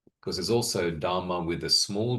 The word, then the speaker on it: dharma: D because there's also dharma with a small d and generally with a long a at the end dharma which means phenomena just things phenomenal things.